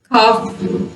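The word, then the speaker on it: half: हाफ, हाफ, walk, इनमें जो एल है वो साइलेंट है, ए के बाद आ रहा है, लेकिन यहाँ पे ए के बाद साइलेंट नहीं है।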